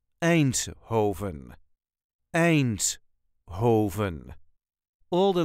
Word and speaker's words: Eindhoven: way us duchies say a Hoven a Hoven there is a very light emphasis on the first syllable an Hoven a Hoven all the